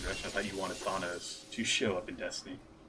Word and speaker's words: Thanos: Is it Thanos or Thanos?